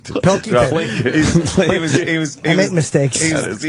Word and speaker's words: Pilkington: Carl Plinkington, or is that how you say his name? Plinkington. Pilkington.